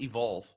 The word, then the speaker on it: EVQLV: much for having me by the way it's pronounced evolve okay sorry oh it's totally fine i mean